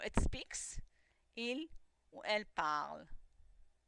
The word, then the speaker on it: parle: He or she or it speaks, il or elle parle. Notice the e is silent. I'm not saying parler, I'm saying il parle.